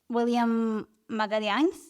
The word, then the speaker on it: Willian Magalhães: here I would love to know if I'm pronouncing your name correctly is it William madalians yes very nice I actually looked it up